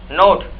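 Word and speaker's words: knot: नोट, guitar बांधना। के silent as में नॉट, Not.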